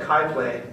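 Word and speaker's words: CHI PLAY: We've got Kai Play, my mistake. It's spelled C-H-I. They call it Kai Play.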